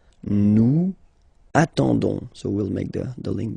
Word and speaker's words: attendons: ending for nous, so O-N-S, okay, you don't pronounce the S, so you get only this on sound, okay, attendons, nous attendons, so we'll make the link between the two,